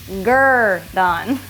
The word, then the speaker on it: Gurdon: as you come in it says pronounced girth on I mean how else